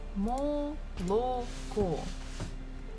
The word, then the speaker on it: молоко: we have learned it, молоко. This is how we write it, but the stress falls at the last syllable, so the first two O's we must read or say as A.